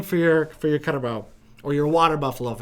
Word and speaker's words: carabao: for your for your cut about or your water buffalo if it's easier to say i've also heard it pronounced calabao so maybe that's easier